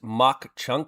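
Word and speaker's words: Mauch Chunk: Uh, Dende Cordipo says pronounced mock chunk here.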